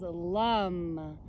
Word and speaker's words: Lam: and then mantra is lum it's spelled l-a-m but it's pronounced like l-u-m it's a seed sound